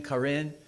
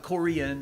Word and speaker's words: Karen: one specific tribe and it's spelled k a r n karen not Korean I'm not saying Korean kin and and they